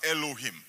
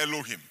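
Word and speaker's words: אלוהים: is translated as Angels is actually a Hebrew word that is pronounced as Elohim turn to your name and say Elohim Elohim and Elohim is a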